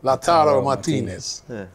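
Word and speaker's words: Lautaro Martínez: How do you pronounce it? Lautaro Martinez.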